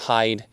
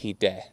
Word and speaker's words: Hide: Not Hide, it's not Hide, it's Hide.